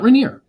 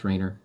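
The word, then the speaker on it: Rainer: Baptist Theological Seminary sbts.edu Riner r a i n r r a i n e r get that right it's not reneer your name never gets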